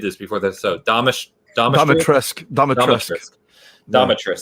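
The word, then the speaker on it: Dimitrescu: Domitress, that's the right way to say it. Like dominatrix, you know.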